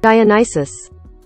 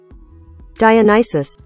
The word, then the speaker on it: Dionysus: I actually had to like Google the proper way to say that word because um I kept wanting to say dinosaur and I knew that dinosaur was not the right word. Dianisis. Dianisis.